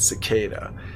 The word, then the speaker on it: cicada: It took me a while though to pronounce cicada the right way. It actually sounds badass when you actually say it, cicada.